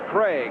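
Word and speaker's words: Krieg: There is young Dave Craig. K R I E G, but pronounced Craig.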